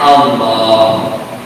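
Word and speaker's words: الله: Allah tulisannya gitu, tapi cara bacanya Allah.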